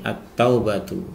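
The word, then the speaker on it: التوبة: terletak pada lafaz ini at-taubatu ya. Jadi alnya bertemu dengan huruf ta sehingga cara membacanya kita langsung masukkan alnya itu ke dalam huruf ta ya.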